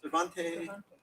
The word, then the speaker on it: Cervantes: I always mispronounce this philosopher's name, C0ncert. C-E-R-V-A-N-T-S. How do you say that? Cervantes.